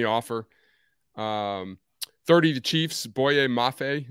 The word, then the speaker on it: Boye Mafe: um 30 to chiefs boye mafe that's how you pronounce it yep that's exactly right edge minnesota that's a